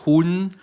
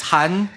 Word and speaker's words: Hun: Han hit you Andy not Hoon not Hyun yeah it's Han yeah yeah because a lot of people have mixed up your name right yeah yeah because like they can't really pronounce so uh people watching is spelled h-u-n-d yes but pronounced as h-a-n yeah close but it's